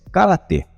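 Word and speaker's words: 空手: con las manos vacías, ambas pronunciadas igual en japonés “Karate”. Sin embargo, las dos combinaciones respectivas de caracteres chinos se pronunciaban de forma diferente en coreano, que serían: “Tang-soo” y “Kong-soo”.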